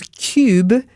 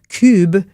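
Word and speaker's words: Kubb: It's spelled K U BBB. So it looks like cub and I I watched the demonstration video. I thought it was cube. You can hear that funny pronunci.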